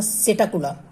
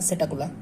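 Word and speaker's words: Psittacula: यहाँ पे जैसे निमोनिया में पी साइलेंट होता है, वैसे यहाँ पे भी पी साइलेंट होगा, और पास में पी ए से पैरोट और एस से याद रखना है सेटाकुला, ठीक है। निमोनिया में जैसे पी साइलेंट, वैसे यहाँ पे एस पी साइलेंट और सेटाकुला इसको बोलेंगे।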